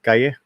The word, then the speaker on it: Calle: Am I pronouncing that right, Calle? Yeah, I mean that's fine. Yeah, I would kill the L's. Just put your tongue on top of the roof of your mouth. Calle. Okay. Calle. So Sasha Calle.